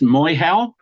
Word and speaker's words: Moehau: It's pronounced Moehau. Moehau, Moehau.